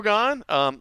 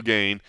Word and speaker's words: Gane: Still not saying his name right. Still not going so far as to actually pronounce his name properly. I think he has moved on from Cyril to I think now it's more Cyril. But it is still Gane.